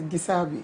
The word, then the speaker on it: Gisabe: Let me pronounce Gisabe. It's Gideon Esther Abigail. Gideon Esther Abigail. So it's Gisabe.